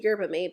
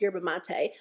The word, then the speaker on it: yerba mate: fall it is the Yerba mate I said it wrong last time I talked about it I said you're about me but a lot of you guys said it's yerba mate wake up eye gel